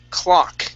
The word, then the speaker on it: clock: Let's go to the word clock. Give me a good CL. Okay, curve your tongue upwards, touch the top of your mouth.